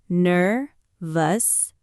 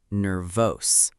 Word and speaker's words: nervous: Two words, ner-vous and sis-tem. Nervous. The stress is on the first syllable, ner-vous, not ner-vose.